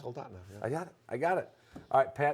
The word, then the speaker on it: Soldotna: Soldotna? Soldotna, yeah.